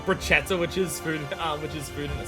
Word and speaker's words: bruschetta: Generally, the Italian word has a sh, it's pronounced as a k. Bruschetta. So I didn't realize that was a specific thing. I didn't realize CH was a K sound in Italian, like in general.